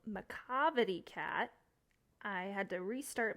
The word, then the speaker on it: Macavity: everyone so we're reading a poem today called Macavity cat I had to restart my entire video because I was pronouncing it Macavity it's macavity it is about a annoying troublesome